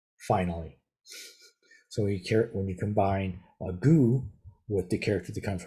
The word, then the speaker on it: 구: This is just the character for the number 9, which is pronounced gu in Sino-Korean.